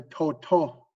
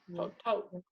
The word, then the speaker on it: toto: The next one here, toto. Toto. That's the way my grandma said green. Toto. Or Toe, toe. wha- Toe. to. Toe. Toe. Toe.